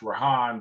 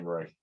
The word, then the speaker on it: Rayhan: Okay, it's pronounced Rahan, but everybody calls me Ray. Rahan. Beautiful. Yeah, but yeah, everybody calls me Ray.